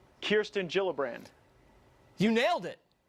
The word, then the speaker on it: Gillibrand: here all right so kirsten gillibrand not gillibrand it's a soft shade now the Minnesota woman